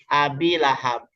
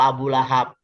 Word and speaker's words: Abi Lahab: Ini dibacanya Abi karena dia jadi majrur. Ya, kalau bahasa nahunya jadi majrur lah, jadi ke bawah, makanya dibacanya Abi. Kalau dia diletakin di depan itu Abu Lahab. Tapi karena dia diletakin di tengah dan dia menjadi mudhofun ilaihi, itu menjadi Abi Lahab gitu.